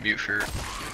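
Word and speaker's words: mutfruit: Mutt fruit. Or what, how do you even pronounce this? Mute fruit or mutt fruit? I said mute fruit. All right. Because it's mutated fruit.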